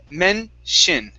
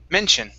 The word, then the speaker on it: mention: So the T-I-O-N is pronounced shin, okay, instead of shian, okay? We do not pronounce the O, okay, as an ah sound here. So instead of saying mention, it's men-shin, mention.